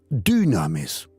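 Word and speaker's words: δύναμις: Hechos 1, versículo 8, recibimos dunames. En griego dunames, así se pronuncia, se escribe con y du, porque el griego no tiene la u, se pronuncia la u. Pero es una y dues es la dinámica del Espíritu Santo.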